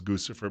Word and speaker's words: Guccifer: guys they thought was guccifer but there's a lot of them it's a name of a guy rhymes with Lucifer but you know since